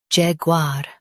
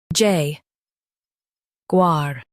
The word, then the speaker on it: Jaguar: Jag u a, Jaguar Jag u a, Jaguar In US, stress Jag and say var clearly. In UK, stress Jag and say u softly.